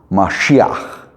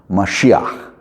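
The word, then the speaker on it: משיח: And um Mashiach is how it's pronounced. Mashiach is oh for Messiah we say Messiah the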